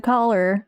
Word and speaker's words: collar: You just realize that collar and color are pronounced the same, but they're not. Collar, color. Well, to be fair, it's not pronounced kolar.